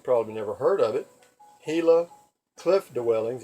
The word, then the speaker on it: Gila: never heard of it gila cliff dwellings it's spelled GI la but it's pronounced gila because in Spanish a